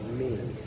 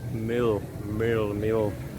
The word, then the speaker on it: mil: Próbowałem wymówić słowo 1000, które jest coś jak mil, ale on mówi, że źle to wymawiam, mimo że ja tak to słyszę. Nawet mi to przeliterował jako my i l. Tak jak milk, tylko że bez k na końcu.